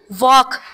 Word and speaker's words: walk: अच्छा, मुझे ये बताएं कि वॉक, WALK, वॉक, इस एल, वाले वर्ड एल, में कौन सा लेटर जो है वो साइलेंट है? एल, शाबाश। अच्छा, डायग्राफ्स आते हैं?